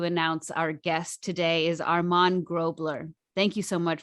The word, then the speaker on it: Armand: anyone wants to know go ahead yes it's pronounced armand all right so i'm still practicing that's why